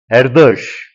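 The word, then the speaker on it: Erdős: just a meane so in Hungarian s is pronounced sh SZ is pronounced s so it is loas local Lemma erush and loas not important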